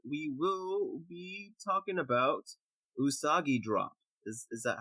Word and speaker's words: Usagi Drop: for next episode we will be talking about usagi drop is is that how it's pronounced jay besides a rabbit drop yeah yeah